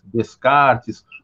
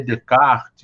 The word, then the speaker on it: Descartes: gente aqui e ajeita uns falam é rené descartes outros tentam pronunciar renê de kart né mas não tem problema como sair saiu